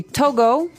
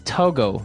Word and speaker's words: Togo: So it's Togo. That's the way you pronounce it. Cuz if you look at it, I would say to go, right? But it's not to go, it's togo.